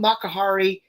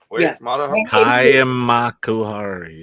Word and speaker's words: Makuhari: Wars celebration in Japan at the The Hub Mahari or colum of Mahari I I can't pronounce that makuhari yep yes take a bit to get used